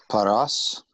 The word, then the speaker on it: Paras: Paras, 2 syllables, first open, second closed.